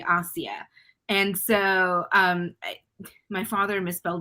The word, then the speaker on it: Aasiyah: It's actually spelled Asia, so people pronounce it Asia, but the name is actually Aasiyah.